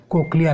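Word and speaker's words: cochlea: Okay, question number 6 is that, क्या बताया था सर इसका प्रोनाउंसिएशन? कोक्लिया ना.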